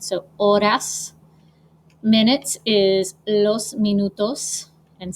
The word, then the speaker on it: horas: ours is las horas the h is silent so ores minutes is los minutos